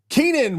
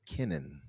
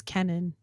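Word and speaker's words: Kennan: shout out to jez um loves these beans Keenan will blend Asus which Keenan is the name of the project Keenan will blend I heard was actually pronounced Kenan it's Kenan it's k n n a n yeah only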